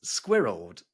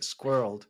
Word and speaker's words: squirreled: Squirreled. Squirreled. Yeah, that's one syllable, and it's the longest one-syllable word in English.